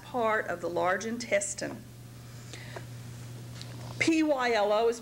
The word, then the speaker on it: pylo: is the last part of the large intestine p y l o is pronounced pylo and p y l o r